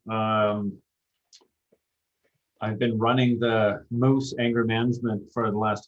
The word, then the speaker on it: Moes: all right well um I've been running the Moose anger management for the last 26 years and